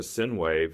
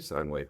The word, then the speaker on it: sine wave: the sun is a sinwave. It's a firstg sinwave. Sinwave. Sinewave. How do you say that? I I say sine wave.